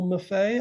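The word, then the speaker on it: Maffei: bunch of things and it's damien m-a-f-f-e-i so muffet i think he was in he's the man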